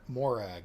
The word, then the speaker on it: Morag: girl's name in Scotland is it yes that's pronounced Morag yep and it is a traditional Scottish woman's